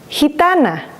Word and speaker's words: gitana: And it makes the H sound of the letter H in English when it's together with the soft vowels, like he, gente, he, gitana.